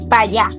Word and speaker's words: para allá: Dominicans delete letters like it's not. estoy cansado, toy cansado más o menos ma o meno para allá, pa allá Also, pay attention to tone and the speed.